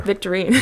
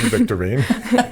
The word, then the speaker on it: Victorine: you say your last name again Victorian there victorine victorine the white way Tangerine if you've enjoyed today's